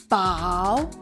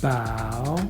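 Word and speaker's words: 饱: Bow. What were you thinking when you do bow? Like the ship. The bow of the ship.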